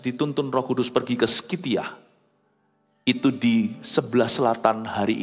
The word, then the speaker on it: Scythia: Bertahun-tahun kemudian, Andreas dituntun Roh Kudus pergi ke Skitia. Itu di sebelah selatan hari ini Rusia. Skitia itu nggak tahu saya ejaannya betul atau enggak.